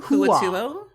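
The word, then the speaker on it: Hua Tuo: Huatuo. Hua. I ain't grokking that. Hua. Hua. Hua. Hua. Tua. It's spelled like it sounds, Evan.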